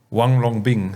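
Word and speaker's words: Huanglongbing: all talk about HLB but how do you pronounce it? How long? Wong Long Bing. Wong Long Bing.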